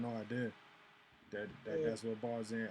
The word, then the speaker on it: Barzan: I had no idea Yeah, that's what Barz in. I thought it was like Tarzan, but you have Barz.